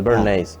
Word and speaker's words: Bernays: austriaco, Bernate se escribe. no, con Y-S al final, Bernays.